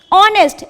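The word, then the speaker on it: honest: जैसे वारिस कहते हैं जिसे हिंदी में, ठीक है, एयर, EH silent, ऑनेस्ट, H silent, इस।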